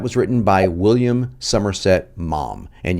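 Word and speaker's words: Maugham: written by william somerset mom and yes that is how you pronounce the last name mom but what you may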